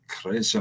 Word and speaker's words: Kreischer: And first impression, I'm probably going to butcher the pronunciation. There's a Kreischer Mansion. Kreischer.